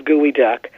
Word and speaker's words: geoduck: I never had we never dreamed it was gooey duck um it's because it was initially this they're not quite sure why it's pronounced and spelled you know spelled so differently